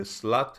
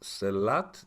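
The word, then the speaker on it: sehlat: New Worlds, called The Slut Who Ate Its Tail, or actually I guess it's pronounced Selat.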